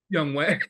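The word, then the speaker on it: Younghoe: Young Wei. That is how you pronounce it.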